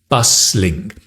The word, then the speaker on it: bustling: a bustling City bustling there's a t but you don't pronounce the T busling this means to be